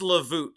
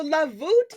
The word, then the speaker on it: lavot: them it is pronounced lavot correct yes so lavot is like the Vault like a vaulted ceiling or an arch way like the St Louis